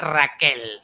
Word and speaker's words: Raquel: No, well, it's La Raquel. That heavy in Spanish. You have to roll your R's.